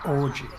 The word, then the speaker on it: orgies: It's pronounced orgies.